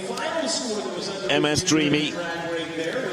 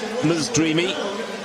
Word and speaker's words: Ms. Dreamy: Apologies to Dan Huss, apologies to the team behind Ms. Dreamy, not MS, but Ms. Dreamy.